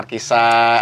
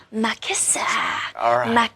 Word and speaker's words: Markisa: Tapi cara aku pronounce katanya bukan Markisa. Sepanjang lagu aku nyanyinya Makisa. Makisa. So it's actually, it's got a dual meaning. Memang buah Markisa yang menggambarkan passion. Okay. Tapi juga my kiss, Makisa.